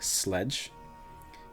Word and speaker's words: Slecg: SLECG is pronounced like sledge.